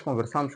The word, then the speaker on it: conversamos: Ontem nós conversamos com o professor. Então, aí, quando se refere ao passado, devemos marcar esta forma verbal do verbo conversar com o acento agudo exatamente nesta penúltima sílaba.